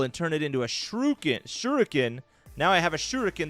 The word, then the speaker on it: shuriken: I take the bowl and turn it into a shuriken. Now I have a shuriken the rest of the game till I throw it. All right, let's see if you successfully craft a shuriken.